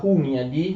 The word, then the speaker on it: Hunyadi: Giorgio Branković si mette a disposizione dell'Ungheria e di Giovanni Hunyadi, anzi in ungherese si pronuncia Hunyadi, di Giovanni Hunyadi, per le sue iniziative militari, per un'offensiva.